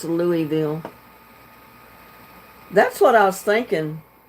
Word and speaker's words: Louisville: Gabby says, I do really believe it's pronounced Louisville. That's what I was thinking. Because I don't think they pronounce the S in it.